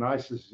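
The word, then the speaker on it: gneiss: courts nice veins in Isis as they spell it g-n-e-i-s-s and um so these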